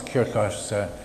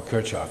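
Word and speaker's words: Kirchhoff: us the famous loss kirk or kirchoff depending on how you care to pronounce him voltage and current laws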